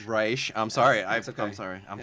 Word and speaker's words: Reich: reich pleasure to be here um it's reisch i'm sorry i'm sorry i'm sorry i got